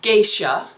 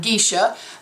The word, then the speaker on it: Geisha: And it is Geisha by Belly James, not Gisha, but most people say Gisha. It's geisha.